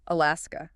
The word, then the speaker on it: Alaska: Alaska. Three syllables. Stress on the second.